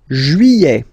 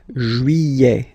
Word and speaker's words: juillet: Juillet. Okay, you get this double L here. Y-y-y-y-y. Juillet. Juillet. Don't pronounce this final T, E-T here at the end.